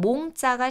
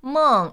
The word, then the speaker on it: 梦: 그래서 꿈, 몽자가 시험에 나옵니다. 한자의 발음은 몽인데요. 중국어 발음 한번 읽어보실게요. 멍 이렇게 읽어주셔야 돼요. 몽 이렇게 읽으시면 안 돼요.